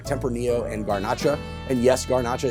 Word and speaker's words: Garnacha: And yes, Garnacha is actually Grenache, just the Spanish pronunciation.